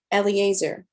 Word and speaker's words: Eliezer: to say his name correctly um it is eleazier eliezer it was the servant of abraham okay so